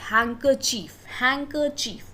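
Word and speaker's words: handkerchief: बट जो उसका pronunciation है उसमें अगेन D क्या है, साइलेंट है। इट इज हैंकरचीफ, D is silent.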